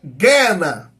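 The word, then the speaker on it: γέεννα: é a gente fala genena a gente fala genena mas no grego seria Gena é um lugar de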